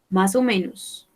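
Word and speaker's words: más o menos: moines pelouse aux moines masomenos pelouse aux moines ne prononce pas le s final deux mois bonne question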